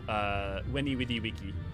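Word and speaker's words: veni, vidi, vici: My favorite thing about taking Latin in university was learning it's actually pronounced Weni Widi Wiki.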